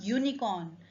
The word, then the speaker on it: unicorn: is a vowel but its pronunciation starts with y y unicorn which is not a